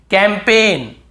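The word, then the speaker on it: campaign: हम याद रखना है कैंपेन कैम पेन कैंपेन यहां पर भी जी साइलेंट है कैंपेन फॉरेन बहुत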